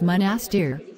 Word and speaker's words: Monastir: In English, it's typically pronounced as Monastir, with the emphasis on the second syllable.